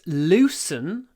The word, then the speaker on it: loosen: the word loose let's loosen these straps let's let's loosen them L long L short o loosen loosen these straps the